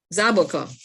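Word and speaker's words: zaboca: lots of avocado all what is the regular name trinidad it's called avocado but um zaboka so i remember sabaka here's somebody just put it in it's spelled z-a-b-o-c as abaca phytochemicals from this avocado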